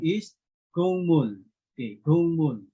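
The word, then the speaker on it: 국물: Okay, so example, instead of gukmul, okay, the correct pronunciation is gungmul. Okay, gungmul. Instead of gukmul, gungmul.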